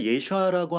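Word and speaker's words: ישוע: 그런데 우리가 예수아라고 하는 그 정확한 이름을 불러드리는 것은 나의 어떤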